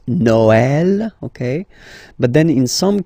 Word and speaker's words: Noël: The last one, tréma, well, basically it's quite rare, and the tricky thing is that in some cases you will have to pronounce it like E, okay? Like, for instance, Noël, okay?